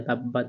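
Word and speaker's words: تبت: তাব্বাত ইয়া জবর ইয়া তাব্বাত ইয়া দাল জবর দা এখানে তিন আলিফ টা এনে পড়তে হবে তাব্বাত ইয়া দা জা জবর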